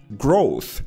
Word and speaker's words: growth: where the stress is growth voiceless th growth optimizes agile these are